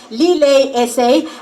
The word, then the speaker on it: Lillet: You can tag us at Lillet is our handle on Instagram, and you can use the hashtag LilletSA, as well as it's pronounced Lillet.